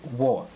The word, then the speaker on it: 我: Je en chinois il va se prononcer wo.